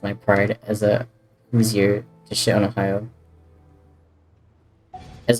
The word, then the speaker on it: Hoosier: Indiana people are Hoosiers and it's pronounced Hoosier.